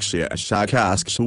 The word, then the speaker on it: Shashakashu: of your human letters, something like Shashakashu with a very, very strong pronunciation of the SH and K sounds.